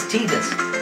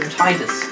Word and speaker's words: Tidus: Another one from Final Fantasy X is also, as we know, in the how the Americans pronounce it, is Tidus. Whereas us British, we like to call him Tidus. Because it sounds better.